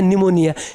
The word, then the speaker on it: Pneumonia: तो सबसे पहला है क्या है, निमोनिया। निमोनिया का स्पेलिंग ध्यान से देखिए, पी निमोनिया नहीं है, डायरेक्ट निमोनिया है। क्या है, निमोनिया है। पी क्या है, साइलेंट है। क्या है, पी साइलेंट है।